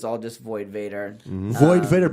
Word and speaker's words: Void Vator: Void Vator, but VOID, the most important part. Yeah, spell it right. VATOR. VATOR. It's kind of like TOR. Gatorade.